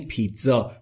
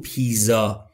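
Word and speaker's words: pizza: که تو فارسی میگیم هر جا در انگلیسی د تا زد پشت سر هم دیدید بدونید که تزه تلفظ میشه مثل همین جا پیتزا پیتزا نمیگیم پیزا پیتزا پیتزا پس شد پیتزا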